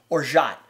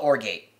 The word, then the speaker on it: orgeat: that one too so the first thing must cover is or shot it's pronounced it's Ord e8e I'm gonna see if I can put words down there so you can see it most people call it or gate it's or shot or or shot something